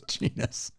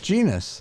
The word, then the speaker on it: genus: Whose genius was unknown to him. Genus was genus. How do you say it? Genus. That's what I said. You said genius. Genus.